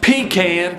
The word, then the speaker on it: pecan: watching this episode i've heard that it's pronounced pecan the correct pronunciation is pecan pie that's right you heard me a pecan